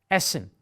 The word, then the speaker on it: Essen: here a dou s Essen there is a purpose why we do that it shortens the pronunciation of the vowel before it so sometimes the vowel